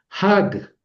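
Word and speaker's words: חַג: Es solamente un una sola una sola sílaba. Una sola es un es una sola sílaba. Hac porque hay una sola vocal.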